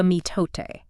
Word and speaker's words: mitote: Yes, the mitote. It's pronounced roughly M-I-H-tote.